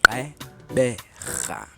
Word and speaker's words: Gqeberha: bonus, and he taught people how to properly pronounce it. Yeah. With my lips, it's Gqeberha.